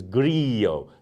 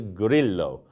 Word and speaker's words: Grillo: Now, if you've learnt any Spanish in your life, then your instinct will be, as mine is when I see this word, to pronounce it as grillo, to turn the two L's into a Y almost, grillo. But that's not how the Italians say it.